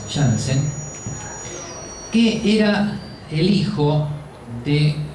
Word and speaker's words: Janssen: Hasta que aparece este señor, Zacharias Janssen, dice ahí, se pronuncia Janssen, que era el hijo de Hans Janssen, que